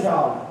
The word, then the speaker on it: joule: A gente escreve assim mesmo. Mas a pronúncia é joule.